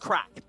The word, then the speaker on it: craic: Is yours uh p person per person per person pernis person p personnici um it's it's pronounced crack as in the crack uh I'm Irish so